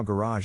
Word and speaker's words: garage: is in this case the accent is in the second syllable corresponding to Roz are other ways to pronounce it now let's see how garage is used in real